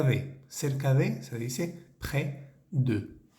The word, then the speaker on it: près: cerca de se dice PR de fijémonos que no pronunciamos la s de esa palabrita pres la e tiene